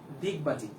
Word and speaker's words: ডিগবাজি: এখন দেখো ডিগবাজিকে তুমি উচ্চারণ করবা হচ্ছে দিগবাজি। ড কে দর মতো উচ্চারণ করবা, ডকে দর মতো উচ্চারণ করো।